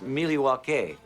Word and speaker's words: Milwaukee: espied it is actually it's pronounced Milwaukee which is Algonquin for the good land dice commander wishes